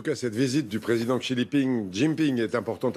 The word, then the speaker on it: Xi Jinping: On revient à la visite du président chinois dont le nom ne se prononce pas comme ça. Oui, en tout cas, cette visite du président Xi Jinping est importante à plus d'un titre.